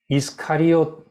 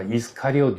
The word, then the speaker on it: 이스카리옷: 이 헬라 말로는 우리말엔 가롯이라고 적었는데 이스카리옷 유다 이렇게 되어 있습니다. 영어로도 다 이스카리옷 유다 되어 있고 요즘 새번역이나 요즘 번역하는 책들은 다 이스카리옷 발음 그대로 이스카리옷 유다라고 되어 있습니다.